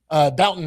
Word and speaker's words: Bouton: Bouton, that's how you say his name.